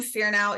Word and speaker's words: Fearnow: My last name, Fearnow, is spelled like it sounds, Fearnow.